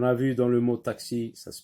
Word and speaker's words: taxi: Taxi, taxi. On entend k et s. Taxi.